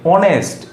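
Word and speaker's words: honest: সেমভাবে অনেস্ট, এইচ ও এন ই এস টি, অনেস্ট, অনেস্টের sound কি এসছে, ও।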